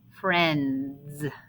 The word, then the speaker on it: friends: tricky part right here let's not forget that it's spelled i e with that i being silent and this is how